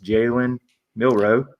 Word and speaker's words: Jalen Milroe: Jalen Milroe, there you go, said it right, and then also Ryan Williams.